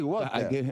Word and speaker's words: water: Agua, sí, water. Ahí está. Water. Se está preparando. A ver. La T no se pronuncia. Trata de evitarla.